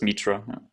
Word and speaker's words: Mitra: this is me Charlie my pronouncing it right is it Mitra just go for the simplest pronunciation which is Mitra feature is good explanation